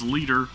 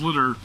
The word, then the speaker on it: Liter: which is literally litter I know you guys say it's leiter but she pronounces her own name as litter so it's litter to me um and then we're